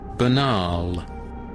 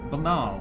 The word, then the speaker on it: banal: German word for sure listen banal banal okay very similar to how you pronounce it in German ah can't you there